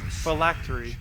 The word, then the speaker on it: phylactery: It could be like a 2-syllable word and I'll somehow do like 4 or 5 syllables. Am I saying it that wrong? Phylactery.